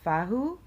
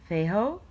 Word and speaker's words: Fehu: Today, I would like to talk about the rune Fehu, or how you can pronounce it as well, Fahu, Feho, Fehu, Fehu.